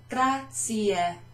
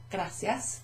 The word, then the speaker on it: grazie: Grazie. Grazie. Thanks. Sto bene, grazie. Grazie. There's an E at the end of that. It's not grazie. No. It's not gracias. No. That's Spanish. Scusa. Grazie.